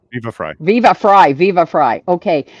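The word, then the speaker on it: Viva Frei: Like I'm talking about, how do you pronounce his name? Viva La Free or Viva Free Viva or Fry. Viva Fry.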